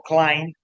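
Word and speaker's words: climb: ya que ha aparecido, el verbo clim no pronuncia la B. La B es a silent letter, sería climed both clim up. Okay. Okay. Okay. Esa B es una es una silent letter.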